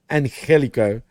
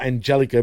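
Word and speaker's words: Angélico: just say it right you can hear Shani saying and Helo not Angelico but this guy continues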